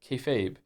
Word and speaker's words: kayfabe: Kefabe is pig Latin for be fake. refers to essentially treating a bit you're doing that everyone understands as fake as real to facilitate the bit and is pronounced kayfabe.